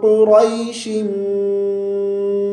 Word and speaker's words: قریش: من الشیطان الرجیم۔ سورۃ قریش مکیہ۔ سورۃ القریش نہیں پڑھیں گے، یہاں الف لام نہیں ہے۔ سورۃ قریش مکیہ۔ بسم